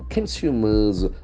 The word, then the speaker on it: consumer: properties that transcend consumer consumer we have got three syllables consumer consumer and the accent falls on the second syllable consumer can see the